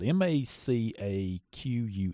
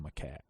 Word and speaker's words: macaque: MACAQUE. It's called macaque.